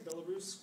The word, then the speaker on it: Belarus: was born in belarusque which is now uh Belarus I'm sorry Belarus I pronounce it my Russian's a little off today uh in 1975.